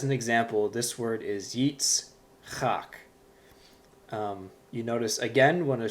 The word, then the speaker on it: Yitzchak: And for those who have a keen ear, you might recognize this as the Hebrew name Isaac. Yitzchak. That's the name Isaac.